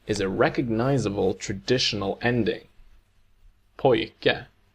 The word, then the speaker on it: pojke: syllable where the stress is on the first syllable and the ending is a recognizable traditional ending. Pojke, Pojke.